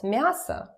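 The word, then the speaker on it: мясо: then maybe what else Masa meat foreign again pay attention to my pronunciation remember that or it's about vowel reduction so when it's not stressed it turns to uh like that it's neat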